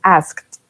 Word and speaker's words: asked: Yes, so ask termina en K, ¿cierto? Entonces se pronuncia como una T-S-E-D. Entonces asked a lot of questions.